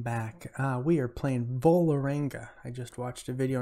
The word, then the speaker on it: Vålerenga: right guys welcome back uh we are playing bullaranga i just watched a video on how to pronounce that volaranga they play in norway we beat them two